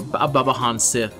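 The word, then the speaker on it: Baobhan Sith: Tamlin Tristan to Babo or babahan Sith is how her actual name is supposed to be pronounced but I say it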